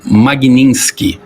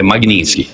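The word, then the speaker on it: Magnitsky: lei Dr Ricardo é a lei se chama magnin ela é magnin Ela Vem de um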